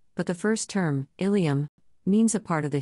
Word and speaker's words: ileum: For example, ileum and ilium have identical pronunciations, but the first term, ileum, means a part of the hip bone, red arrow.